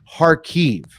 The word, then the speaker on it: Kharkiv: of harkive which I after watching videos found out as a silent k so oh good thank you I'm going to be visiting there later and I was going to that up okay good heart five silent k Park Eve it's spelled car key numerals you literally just don't say the K uh and so it's